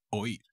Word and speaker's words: oír: Y el verbito de hoy será el verbo oír, to hear, to listen, oír, con acento en la i.